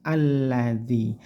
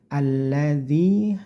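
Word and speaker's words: الذي: harakat sendiri dibaca a alladzi alladzi Nah lamnya di sini ditekan tidak boleh dengung di sini alladzi tidak tapi singkat saja ditekan alladzi danah di sini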